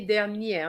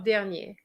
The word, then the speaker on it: dernière: Okay, l'année dernière, not dernier.